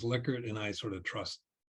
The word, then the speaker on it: Likert: And then somebody said, Will, I think it's Likert. And I said, really? So I went to investigate, and I found the daughter of Likert who said that the way to pronounce it is Likert, and I sort of trust her.